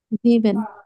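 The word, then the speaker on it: sieben: ইয়া এরপরে আসছে সেভেন সেভেন কে কি বলবো জিভেন জিভেন জিভেন এখানে কিন্তু আমি স্পেলিং গুলো দিয়ে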